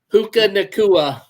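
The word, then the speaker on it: Puka Nacua: I forget how to pronounce Paducah. Or how do you say it? Who in Nakua? Puka Nakua.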